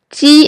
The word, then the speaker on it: ji: When you pronounce ji in Chinese, your lips are spread wide, like when you are smiling.